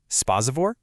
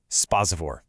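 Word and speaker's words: սպասավոր: It's three clean sounds. Spazavore. Spa. Give it a try. Spazavore.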